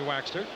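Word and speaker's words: Waechter: There's Henry Waxter. Don't think we're crazy in the way we pronounce it. That's the way he wants us to say it. Waxter. Just like it was W-A-X-T-E-R.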